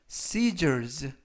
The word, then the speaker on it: scissors: 이번 표현은 scissors, scissors, scissors 라고 발음하시면 되겠고요. 이때 S 발음들은 스가 아니라 z라고 발음하시면 되겠습니다.